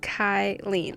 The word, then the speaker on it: Kylene: it says you can include my name Kylene pronounced kyleen I think I I'm